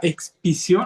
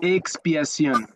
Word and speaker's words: expiación: Entonces, perdón, hermano, no sí, no entendí muy bien la palabra expisión o expisión. ¿Cómo? Expiación. Expiación. Gracias. Expiación. Gracias. Con X. Se escribe con X.